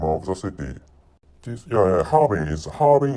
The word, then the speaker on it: Harbin: Harbin is the correct pronunciation.